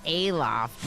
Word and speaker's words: Aloft: Pronounce Aloft, not like Olaf.